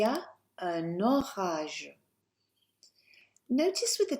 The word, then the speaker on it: un orage: Connect that N. Il y a un orage.